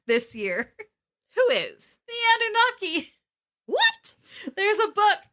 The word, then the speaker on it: Anunnaki: i like played how google was saying to pronounce it and google said nanaki yeah and so i was like a nanaki